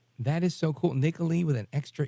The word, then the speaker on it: Nicolee: first name It Is Nicoli just think Nicole to Italy that is so cool Nicoli with an extra E I love it all right folks uh we are on with Nicoli and we're coming back